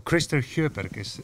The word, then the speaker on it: Christer Sjöberg: So Christer Sjöberg, that's how you say it? Or? Sjöberg, yeah.